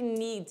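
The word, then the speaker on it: knead: é crumple ou neit esse k é mudo tá k geralmente o k em inglês é mudo alumas situações ele fica mudo mesmo e aí você não fala ele tudo bem não é que need é Need Need então ele tá ali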